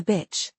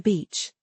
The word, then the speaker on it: beach: So, clear vowel pronunciation is vital here. Absolutely. Over-articulate the ee sound. Ensure it is long and clear.